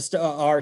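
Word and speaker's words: STAAR: and i'm phonetic and they got two a's in that word and i pronounce it as such the sta our test we have kids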